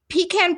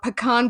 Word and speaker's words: pecan: is delicious but um this is pecan pie or pean pie depending on how you say it a pumpkin pie and